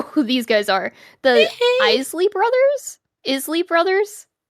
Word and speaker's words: Isley: I feel like there's a couple different ways you could pronounce that. Eley. Oh my god, they look so cool though. It's Eley.